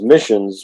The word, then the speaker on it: MISNS: to say it um it also makes a nice acronym when you pronounce it as missions which veterans can relate